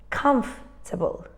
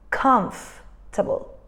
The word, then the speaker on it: comfortable: one is actually pronounced comfortable comfortable as you can see the O the r and the E are not pronounced at all I'm sure you know